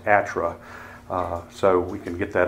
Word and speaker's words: ATRA: 2012 which mercifully the the acronym is now pronounced atra so we can get